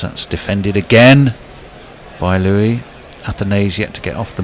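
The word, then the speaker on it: Athanaze: get off the Mark I'm I'm pretty sure the consensus on pronunciation for AES is think of it as uh a kind of a nasal spray for hay fever I I thought of uh assisted dying I thought of euthanise oh well I prefer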